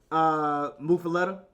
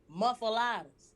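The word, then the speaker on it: muffuletta: Funny story about that word is you pronounced it correctly, right? Yep. And if you come down here and you say it like that, people gonna know what you're talking about. But we call them muffaladas or the old people be like muffaladas, or like the young niggas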